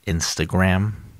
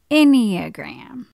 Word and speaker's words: enneagram: the what enneagram honey it's uh pronounced instagram uh nope enneagram okay maybe this will